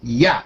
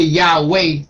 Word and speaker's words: YHWH: understand what I'm saying we've been trained to pronounce it with the w w sound but it's silent and we hear in